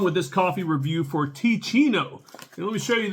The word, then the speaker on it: Teeccino: let's get on with this coffee review for T Chino and let me show you this so you can know how to spell it t e e c i n t